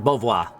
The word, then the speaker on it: Beauvoir: Or Beauvoir, I should say. That's the correct pronunciation.